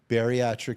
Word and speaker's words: bariatric: Help me pronounce it. Bariatric? Bariatric surgery.